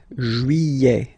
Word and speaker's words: juillet: Juillet. Don't pronounce this final T, E-T here at the end. E.